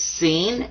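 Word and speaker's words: س: Now this one is seen. Sa, like a regular S.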